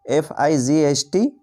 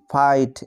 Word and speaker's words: fight: যেমন একটি শব্দ FIGHT, এই শব্দটিতে দেখো GH এর আগে আই রয়েছে, তাই এখানে GH এর উচ্চারণ হবে না, GH এখানে সাইলেন্ট। এই শব্দটির উচ্চারণ হলো FIGHT, ফাইট এর অর্থ হলো যুদ্ধ।